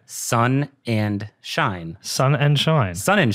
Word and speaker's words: Sonnenshein: can't get it right it's actually a lot simpler than it looks okay sun and shine sun and shine sun